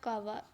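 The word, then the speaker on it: cava: अच्छा, वर्ड जो है ना असल में इसकी प्रोनाउंसिएशन है कावा, इन्फीरियर वेना कावा, ठीक है।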